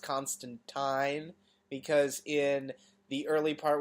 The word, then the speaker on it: Constantine: someone actually calls him Constantine because it's spelled phonetically and he goes no it's Constantine it rhymes with line well I'm sorry that's